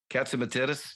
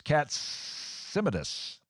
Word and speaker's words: Katsimatidis: See, there's one more syllable. You know, it's like it's got so many syllables. I mean, if it was one less syllable, like it was Katsimatis, if it's John Katsimatis, that would be. But there's another one there, so it's Katsimatidis.